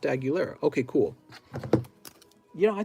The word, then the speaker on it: Aguilera: you ready ac marshall it's like christina aguilera oh so this just pronounced aguilera okay cool you know